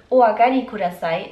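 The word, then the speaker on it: お上がりください: Das obere wird Oagari Kudasai ausgesprochen und heißt Bitte kommen Sie herein.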